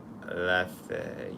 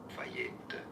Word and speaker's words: Lafayette: In French, there's no stress on any particular Lafayette. In French, Lafayette. Lafayette. So Lafayette, that's how you say it in French, I think, but Lafayette.